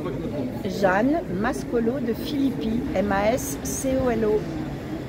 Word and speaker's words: Mascolo de Filippis: Jeanne Mascolo de Philippi, M-A-S-C-O-L-O. Il y a un S à la fin. Oui, non, on ne le prononce pas.